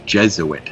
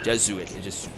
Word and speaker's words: Jesuit: Just to make sure that we're back on the pronunciation chain, that's Jesuit. Jesuit. I was trying to be fancy. Jesuit. I put the wrong emphasis on the wrong syllable.